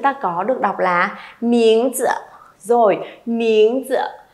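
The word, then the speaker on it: 名字: Các bạn đừng đọc là miếng chư hay miếng chữ nhé, thì nó sẽ chưa được hay lắm. Đọc thanh nhẹ chuẩn hơn cho cô một xíu nào.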